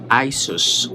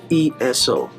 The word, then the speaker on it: ISO: ISO came from the Greek word ISOs. Actually, ISO is not really the correct pronunciation. The correct pronunciation of ISO is ESO. So instead of I, you're going to say that as an E, so ESO.